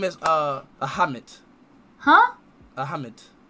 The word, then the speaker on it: Ahmed: My name is Ahmed. Huh? Ahmed. A-H-M-E-D.